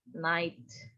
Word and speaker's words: night: nugget ya ini gamenya Jangan dibaca as Nike dibacanya last Nights that tulisannya last we get g-nya nggak dibaca yang disalahin orang Inggris